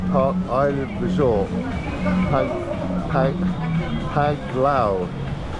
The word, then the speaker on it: Panglao: I'm here at the moment, a place called by J Park Island Resort, Panglao. I keep getting that wrong. It's actually pronounced Panglao.